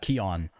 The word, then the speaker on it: Keoghan: it's actually not Keoghan. I think it's Keon. I think something like that. You actually pronounce it so, but I'm not entirely sure.